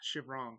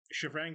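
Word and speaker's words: Shivrang: It's Chevrong. Chevrong, thank you. Yeah. Chevrang versus Chevrong, right? I only remember that because they were calling him Chevrang, and actually you're saying it wrong. It's Chevrong, yeah.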